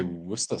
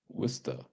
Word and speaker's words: Worcester: It's or some say Worcester sauce. Worcester. Sure. Maybe because they're leaving all the other letters. They just leave them away.